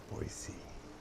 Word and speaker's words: Boise: Boise. I see. So that's how you pronounce it. Boise.